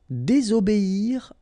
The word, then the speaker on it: désobéir: Désobéir à. Okay? Here you've got to pronounce this I.